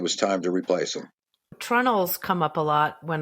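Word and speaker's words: treenails: about covered bridges because sometimes it's spelled the way it it should be spelled tree nails but it's pronounced in New England trunnels and I know that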